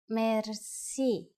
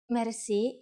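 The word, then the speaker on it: мерси: Merci. Merci is a loan word from French, but it is pronounced with the typical Bulgarian hard R.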